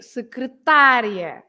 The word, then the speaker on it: secretária: And because there is an ia, you stress the end, right? You say secretaria, secretaria. But if you have an accent on ta, then you have to say secretária, secretária.